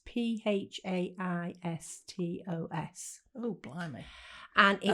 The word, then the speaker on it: Phaistos: Well, leading on from that, there's, I don't know how you pronounce this, Phaeotostisk. It's Phaistos.